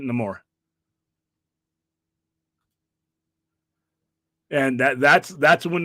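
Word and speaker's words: Namor: says it no more I grew up calling it Neymar but he in the movie he pronounces it no more and that that's that's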